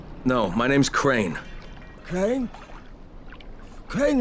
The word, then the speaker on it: Crane: Crane rhymes with train, and brain, and sane, and grain, and rain, and plane, and the other kind of plane, and...